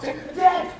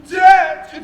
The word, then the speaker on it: debt: he should say doubt, debt when he should pronounce debt, D-E-B-T, not D-E-T.